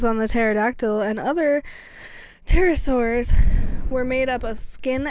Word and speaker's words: pterosaur: of the wings on the pterodactyl and other pterosaurs were made up of skin and muscle membranes